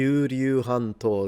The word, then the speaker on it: 九龍半島: Kowloon Hanto, that's how they pronounce it in.